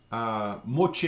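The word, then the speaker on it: moitié: different regions for that more Chi is the way we pronounce moitie a which is one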